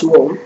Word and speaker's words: Om: When you pronounce Om, A emerges from the throat, originating in the region of the navel. U grows over the tongue. M ends on the lips.